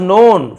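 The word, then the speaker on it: known: एंड वॉज नोन फॉर his bravery, और वह जाने जाते थे, नोन के साइलेंट है, फॉर यानी के लिए, हिज ब्रेवरी, अपनी बहादुरी के लिए जाने जाते थे।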